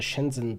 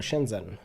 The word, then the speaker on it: Shenzhen: a totally random example Shenzhen how do you say it what's the set h2 inter can just ignore the H spoiler warning you can't set H is its own sound in Chinese we don't have time